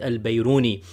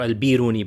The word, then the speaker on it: al-Biruni: rahan muhammad ibn ahmed al-bayroni or al-biruni both of those pronunciations are are given and alberoni died 440